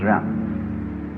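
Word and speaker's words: jen: In Confucius philosophy, the fundamental virtue of a human being is called Yan, spelled J-E-N, for reasons best known to Chinese scholars. I don't know what they are, but it's pronounced Yan.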